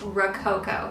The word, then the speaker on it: Rococo: set and the strawberry I need to learn how to say this word Rococo Rocco cow let me look this up really quick okay I just looked it up it's Rococo so um I did an